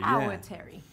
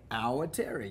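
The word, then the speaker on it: Awatere: the hour Terry now I get a lot of clients who can't pronounce this our ter hour Terry so I grew up watching Coronation Street and you got to think about Terry from there here's our Terry you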